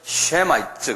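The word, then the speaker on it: Semites: 셈의 후예들을 뭐라고 부르냐면 쉐마이츠 그래요. 그래서 이게 셈이죠. 거기다가 ITES를 붙여요. 그래서 쉐마이츠 그래요. 한번 발음해 보세요.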